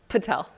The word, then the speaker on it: Patel: the right way to say your last name Patel okay so I've been saying it right yes